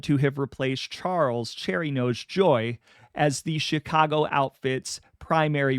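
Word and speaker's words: Gioe: I had been pronouncing Cherry knows Joyy's last name as Gio in the American pronunciation, but it does turn out that his name, which is spelled G I O E, is actually pronounced joy in Italian.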